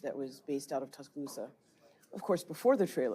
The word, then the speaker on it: Tuscaloosa: this pronounce t talo Tuscaloosa Tuscaloosa yeah think of the c as a k Tuscaloosa it's a Native